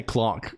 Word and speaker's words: LCOLONQ: on guano okay well the secret is it's pronounced like nothing because it's kind of it's kind of nonsense but the uh the the the the Canon people people just say Clon Clon Clon is the